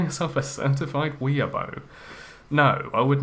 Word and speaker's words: weeaboo: Weeaboo. It's actually weeaboo. It's got 2 O's in it.